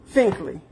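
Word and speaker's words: Finklea: Finklia. I think that's how you say it. Here, thank you for 100 stars. Yep, yeah, it's F-I-N-K-L-E-A. Finkley. Finkley.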